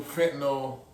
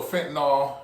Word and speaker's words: fentanyl: I knew fentanyl or fentanyl, you can be pronounced either way.